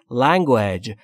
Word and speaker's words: language: و لنگوج یعنی زبان پس تلفظش رو دقت بکنید بچه‌ها لنگویج نیست لنگویج نیست لگوج یعنی زبان سایلنت لنگوج یعنی زبان